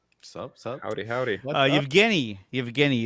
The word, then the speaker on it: Yevgeny: Yevgeny is how you pronounce the first name.